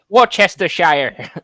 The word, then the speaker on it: Worcestershire: Yeah, Worcestershire.